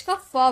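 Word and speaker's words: cough: जैसे सी ओ यू जी एच तो यहां पर जी एच को हम फ में प्रोनाउंस किए कफ हो गया।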